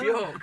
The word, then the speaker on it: Björk: Is that the cheap version of No, Björk? that's the Icelandic pronunciation.